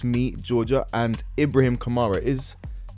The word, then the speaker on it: Ibrahim Kamara: Today it's me, Georgia, and Ibrahim Kamara. Is Ibrahim Kamara? Yeah. I pronounced it correctly first time.